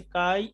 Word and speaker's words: chi: আমাদের চ্যাপ্টার 2 হচ্ছে কাই square test C এইচ আই উচ্চারণটা হবে কাই কাই স্কয়ার টেস্ট তো